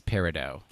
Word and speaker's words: Peridot: It's an augmented reality pet game called Peridot, I think is how you say it. Peridot, Peridot. I think they call the creature Dots. Okay, that's fine. Is it Peridot? Yes. That's Peridot. That's a French word.